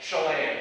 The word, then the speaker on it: Chelan: Chelan, thank you.